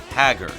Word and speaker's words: Haggar: final fight 2 in a very American sounding pronunciation saying it's Haggar the character Maki says it out loud during